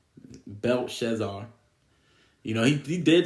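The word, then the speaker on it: Belshazzar: Man and you have Bel belar I always say his name wrong Bel shazar you know he he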